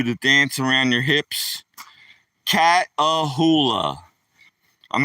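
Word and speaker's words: Catahoula: So I'm telling everybody, Matthew Dorman, a cattle like cat, like a cat and hula hoop like a hula hoop. One of them things you do to dance around your hips. Cat ahula.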